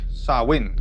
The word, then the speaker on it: Samhain: want to delve into the origins of Halloween samine and for this video we made five chapters samine or as it is pronounced in GIC sawin was the name of a festival that would